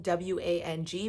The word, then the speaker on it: Wang: It's spelled W-A-N-G, but everyone I've spoken to, including Sam Bankman-Fried himself, has pronounced it Gary Wang, so I assume that that's the correct pronunciation.